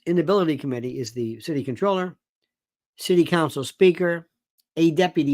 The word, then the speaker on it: comptroller: By the way, it's spelled comptroller. It is pronounced controller. Don't say comptroller ever. So this Inability Committee is the city controller, city council speaker, a deputy mayor.